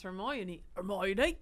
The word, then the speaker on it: Hermione: character, the audiobook is going to nail the pronunciation. I read in Harry Potter. I was reading Hermione for years. Yeah. And it's Hermione.